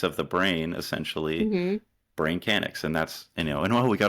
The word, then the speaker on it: BrainKanix: BrainKanix or BrainKanix?